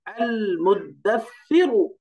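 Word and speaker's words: المدثر: হামজা ফাতহা, লাম সুকুন আল, এখানে শেষ। মিম দম্মা, দাল সুকুন মুদ, তাহলে আল মুদ। তারপরে দালের সাথে সাকে মিলাই দিবেন এবার। সা ফাতহা, সা, দাল ফাতহা, সা সুকুন দাস, সা কাসরা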